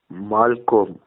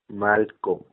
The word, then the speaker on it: Malcolm: The interview is the well-known journalist Malcolm. Malcolm. Um, Malcolm. The co is not co, it's ka.